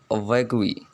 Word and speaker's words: vaguely: I have another example is vaguely. The primary stress on first E and the secondary stress on the second E.